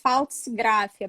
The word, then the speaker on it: Pfaltzgraff: com ele em aberto se você tirar o p aí você consegue ler falso e gracie a pronúncia é essa